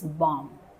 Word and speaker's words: bomb: Similarly, you cannot say bomb. Bomb. Again, B is silent here. The last letter B. It's bomb. Bomb.